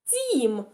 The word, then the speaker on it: дім: слово у нас дім дім послухайте як я вимовляю дім перший звук у нас буде дь м'який а звук м буде твердий Тому це друге слово